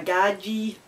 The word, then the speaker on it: gadgie: A gadgie. I've not heard of that one. Pronounced gad G, meaning bogan type person.